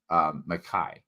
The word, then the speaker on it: McKay: Just think of that Y as an I. So if you were to spell it out as MC big K-A-I, and you were to read that, you would say McKay.